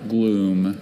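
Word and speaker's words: glume: And there are no alternate pronunciations. Just the one. Gloom.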